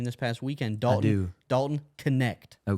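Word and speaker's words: Knecht: has a player I just learned how to pronounce his name this past weekend dton Dalton connect oh connect he is a certified he is a certified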